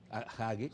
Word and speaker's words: Hagee: cristianos tipo John Hagee, se escribe H-A-G-E, Hagee, está él en San Antonio.